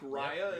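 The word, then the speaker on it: Raia: was a mic headlights I think Mike Raya is how he pronounces his name r-a-i-a that he um submitted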